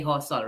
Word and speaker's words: Josol: I like Josol. It sounds like instead of mullet, mule. Josol or I like that. Hosol. Of course, us Filipinos say Hosol, right? Yeah. The J is always pronounced an H.